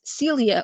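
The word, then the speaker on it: Célia: So my name in Portuguese, if you pronounce my name in Portuguese, although I present myself as Celia all the time here in North America, my name in Portuguese is pronounced Celia.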